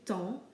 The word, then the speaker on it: temps: The same can be said of temps, where we don't pronounce the P or the S, we just simply say temps.